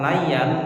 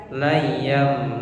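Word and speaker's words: لَيًّا: Jadi bukan layan tapi layam.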